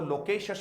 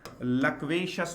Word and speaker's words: loquacious: इसका प्रोनाउंसिएशन देख लें, तो लगभग इसको लोकेशस बोलते हैं। तो सबसे पहली बात तो मैंने कहा था ये लोकेशस नहीं होता है, इसको आप लोग क्या बोलने वाले हैं? लक्वेशस हो जाएगा। ये थोड़ा सा ध्यान देना है, ठीक है दोस्तों। इसको लोकेशस नहीं बोलेंगे, लक्वेशस आप इस वर्ड को बोलेंगे।